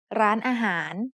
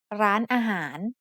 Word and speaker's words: ร้านอาหาร: The first syllable has the initial low-class consonant รอเรือ with ไม้โท added above it to give it a high tone. The second syllable is a mid-tone อา and the last syllable is a rising tone หาร that starts with the initial high-class consonant หอหีบ.